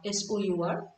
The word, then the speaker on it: sour: Remember that the pronunciation is सार, S-O-U-R. It is pronounced as sour.